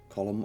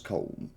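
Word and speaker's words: Colm: is led by one column Ultra School often mispronounced as colon a notorious Outlaw whose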